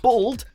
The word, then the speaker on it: bald: bold for whatever reason it's common in america to pronounce this word as though it was spelt with an o and not with an a which led to some